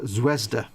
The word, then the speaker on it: Zvezda: with zvezda zvezda kits they're pronounced zwezda i didn't know that